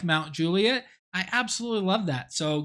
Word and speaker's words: Mount Juliet: moved here to Nashville we were calling it Mount Juliet and when I went up there I had